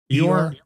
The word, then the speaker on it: Eeyore: of Optimus Prime and Io or whatever. He died at the age of 85. They're dropping. Eeyore? Is that how you say it? Yeah.